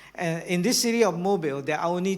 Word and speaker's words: Mobile: It's pronounced as Mobile, not Mobile, because it used to be a city that builds automobile, right?